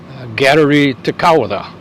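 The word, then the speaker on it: Kateri Tekakwitha: first Native American saint pope benedict xvi canonized gallery Takada that's the Indian pronunciation of her name first name is kateri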